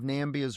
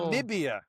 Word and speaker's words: Namibia: Yeah, he's he's a longtime member of Nambia's ruling Swapo party. Nambia or Namibia? Are you pronouncing it correctly?